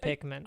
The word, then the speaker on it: Pikmin: There's no A in Pikmin. It's Pikmin.